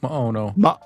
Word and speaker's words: Maono: Maono. Maono. Yeah, it sounds to me like Hawaiian, like how Hawaiians pronounce things, but Yeah, I like just say mahalo.